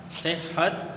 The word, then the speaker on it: صحت: تلفظ کیا ہے۔ بیٹا، یہ لفظ ہے صحت، صحت ہا کے تشدید کے ساتھ، ٹھیک ہے بیٹا۔ صحت و